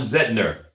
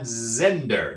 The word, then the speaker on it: Zehnder: alumni big sister Caroline Lombardi, and now Egon Zehnder. Did I get that right, or Zehnder? That's right, Zehnder, Egon Zehnder. All right. I want to make sure I get our pronunciation.